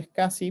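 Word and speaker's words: SCSI: que se denominan conexiones escassi o interfaces es casi que se escribe o se pronuncia es casi pero se escribe así s c c s c s y esta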